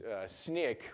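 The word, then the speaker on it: Snyk: does is it actually uses snick or sneak depending on on which country you're in how you pronounce it uses that technology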